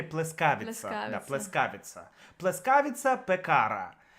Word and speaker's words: пекара: В сербском ударение не может быть на последний слог. То есть пекара. Есть исключения же. Ну, их чуть-чуть, их мало. Там пекара. Такого быть не может.